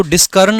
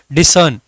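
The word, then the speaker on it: discern: डिसर्न, यहाँ पर समझना इसको डिस्कर्न नहीं पढ़ना है। सी के बाद में जब भी ई आई या वाई आता है तो उसका साउंड स का रहता है, इसीलिए इसका मीनिंग जो प्रोनाउंसिएशन बनता है दैट इज डिसर्न।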